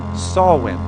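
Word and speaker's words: Samhain: with a holiday an ancient Celtic holiday it's pronounced sawwin All Saints Day or All Hallows Eve is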